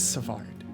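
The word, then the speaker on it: Svaard: And then this is Savard, and What was that again?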